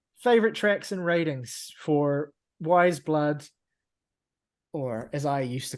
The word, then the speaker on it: Weyes Blood: tracks and ratings for wise blood or as I used to call her back in 2016. I called her ways blood um that's just not how that should be pronounced yeah all right so